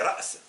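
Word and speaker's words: رأس: Lorsqu'elle est au milieu, par exemple, ra's, ra's. Mais nous, on l'évite, on dit ras pour dire la tête. C'est ra's.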